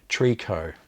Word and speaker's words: tricot: very much for that tree co is how tricot is actually pronounced trico so entreco is